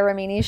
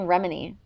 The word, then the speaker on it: Remini: Extra syllables. Leah Remini. I was saying Remini. It's Leah Remini.